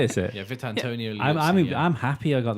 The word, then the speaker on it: Vitantonio: Valentino Liuzzi. Vitantonio. Oh, is it? Neither of you. Is that how you say it? Is it? Yeah, Vitantonio Liuzzi.